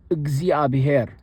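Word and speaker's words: እግዚአብሔር: The is similar to how one would pronounce the in milk. Milk. I say milk, but if someone says milk, it's actually so I guess milk is close enough, but it's like milk.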